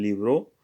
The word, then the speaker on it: libro: So yo necesito leer un libro. So necesito Yo leer necesito leer un libro. un libro. Yo necesito leer un libro. Libro. The B is pronounced as a V, as I try to say firstly.